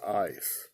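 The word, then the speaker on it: εἰς: It's not against. It's EIS, pronounced ice.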